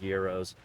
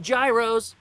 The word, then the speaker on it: gyros: year and get some really good Euros not Gyros they're Euros pronounce it pronounce it right iron bruise I've got